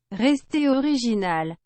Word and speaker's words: Restez original: How you say that? Restez original.